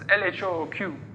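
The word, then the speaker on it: L.H.O.O.Q.: So if you pronounce that in French, which he was, it's LHOOQ.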